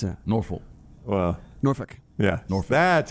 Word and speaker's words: Norfolk: cow cutters this year nor folk state well the locals don't really pronounce the l yeah it's a norfolk well norfolk yeah norfolk